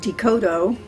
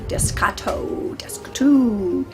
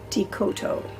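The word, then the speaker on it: Descoteau: spelled how it sounds decoto because it is french it's spelled d-e-s-c-o-t e-a-u the s is silent and growing up that name got butchered all the time desktop descatto uh what they want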